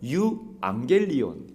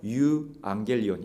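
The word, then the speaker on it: εὐαγγέλιον: 있어요 예 헬라어 성경에는 유앙겔리온 돼 있습니다 우리가 보통 이제 유앙겔리온 유앙겔리온 이렇게 부르는데 정확히이 발음을 넣어서 부른다면 유앙겔리온 약간 이렇게 쉬는 예이 사이가 있습니다 유앙겔리온 천사가 전해준 기쁜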